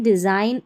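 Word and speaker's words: design: जैसे साइन, डिज़ाइन, असाइन, रिज़ाइन, यहाँ पर उच्चारण आप देख ले हिंदी में दे रखे हैं।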